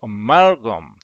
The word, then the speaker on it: amalgam: 저도 예전에 이제 아말감으로 했던 부분이 많이 있었는데 이게 이제 원래 정확한 발음은 지금 보니까 amalgam. 그래서 amal에 이제 강세가 amalgam.